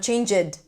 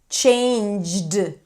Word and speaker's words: changed: teased changed Not change-ed. changed That's a cluster. If you notice that you break it into two sounds, changed, no, you want to connect it, changed.